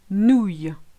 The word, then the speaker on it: nouille: The second one, nouille. Same principle. You've got the nou sound, the Y, and the silent I.